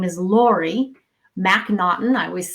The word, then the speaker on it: MacNaughton: When I was a school teacher, I used to say, you pronounce it like there's a knot in my shoelace, MacNaughton.